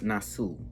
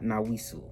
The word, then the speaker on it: Nassau: I believe it's the Nassau, not Nawisu. I don't know how to pronounce that shit.